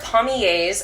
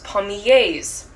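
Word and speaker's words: palmiers: The most recent one were pommiers. I wish I had written it down. Pommier is spelled P-A-L-M-I-E-R-S.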